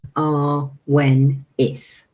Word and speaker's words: Awenydd: We call ourselves Awenydd, and the plural for lots of us, a group of us, is Awenyddion. And it's spelled Awenyd. I know, doesn't sound in the least like that, but you Awenith.